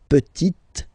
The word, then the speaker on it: petite: So I insist because here it's t, t. Okay, so really you need to make the difference between the masculine form petit and then the feminine form petite t.